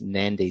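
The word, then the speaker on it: Nadi: pronounced Tomba Rua and the same goes with Nandi is not an ad it's Nandi so you put an N in front of the D just a little a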